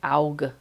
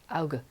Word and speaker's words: Auge: You think it's like Auge. There's the hard G. Auge.